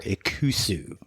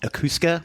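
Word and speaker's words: Ikusa: Shogun samurai swords or ausu right uh I kept calling it akusa which was incorrect ausu means battle in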